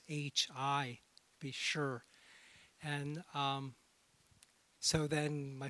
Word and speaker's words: Sze: my last name pronounced it's in mandarin it's actually sure it has on